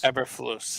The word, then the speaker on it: Eberflus: Believe it's Matt Eberflus. Is that how you say his name? Eberflus. Eberflus, yeah.